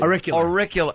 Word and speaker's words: auricular: Auricular.